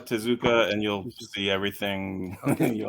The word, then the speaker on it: Tezuka: t-e-z k-a okay okay you say like manga to zuka and you'll see everything